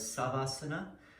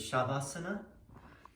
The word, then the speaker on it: Shavasana: Like for instance, there have been teachers like Swami Satchidananda who says savasana, and the way I learned it is shavasana for the corpse pose.